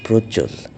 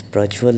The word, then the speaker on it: Prajwal: Uh, so my name is pronounced as Prajwal in Bengali. It is pronounced as Prajwal in Hindi, which is the most popularly spoken language in India.